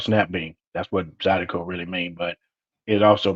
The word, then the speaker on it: Zydeco: We're self-taught, and it was nice for you to educate us earlier on the father of, how do you pronounce it? Is it Zedco? Zydeco. Okay, Zydeco.